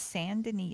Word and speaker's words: Saint Denis: They're all saying it wrong. It's Saint Denis. It's a French word.